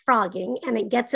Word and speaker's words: phrogging: living in another person's home the word is pronounced frogging and it gets its name because frogs as